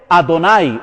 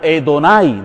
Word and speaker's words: Adonai: Kyrios en griego y en hebreo Adonai o Edonai, dependiendo de la pronunciación hebrea.